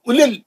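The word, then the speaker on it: أولي: एक मिनट, मध्य असली नहीं है, वाव पे जज़म नहीं है ना, वाव पे सुकून नहीं है, वाव साइलेंट है, सिर्फ पेश की एक हरकत। उलिल, जल्दी पढ़ेंगे, उलिल अलबाब।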